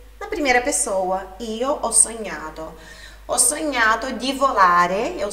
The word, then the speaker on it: sognato: Ho sognato di volare con te su una bici di diamanti. Sobre pronúncias, quando nós temos o GN no italiano, a pronúncia é do NH.